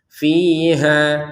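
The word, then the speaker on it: فيها: Jadi fiha di sini untuk ha-nya ya kita baca dua harakat karena panjangnya dari ha tidak kita gabungkan dengan hamzah. Kita berhentinya di ha fiha maka dua harakat.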